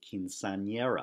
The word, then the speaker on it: quinceañera: And so we have, for example, quinceañera. In fact, notice that word has two N's. One is pronounced the way an N is normally pronounced, but the second one is pronounced like ny.